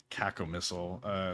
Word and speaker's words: cacomistle: You're gonna have to pronounce that again because I will butcher it. But I'm gonna go with cacomistle.